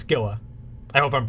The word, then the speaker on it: Gila: I don't think it's Gila. I think it's Gila.